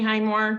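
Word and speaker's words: Hymore: County Highmore the floor is yours Highmore my last name is spelled h-y-m-o-r-e uh we live at we have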